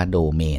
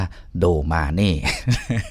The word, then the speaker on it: Domane: คือ โด มา นี่ เรา ไม่ อ่าน ว่า ดู เมย์ นะ ครับ ก็ อ่าน ว่า โด มา นี่ เป็น ชื่อ แบบ ภาษา